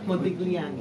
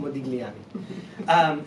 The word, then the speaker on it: Modigliani: Modigliani. Modigliani.